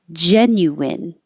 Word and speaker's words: genuine: be Beth Liz Lizzy you have two options you can say genuine or Genuine in on doesn't matter it's not stressed or it can sound